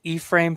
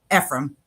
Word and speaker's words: Ephraim: Is it E-frame? Ephraim.